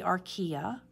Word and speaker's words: Archaea: of methane gas so that's the Archaea that's how you pronounce that archaea domain Eukarya it's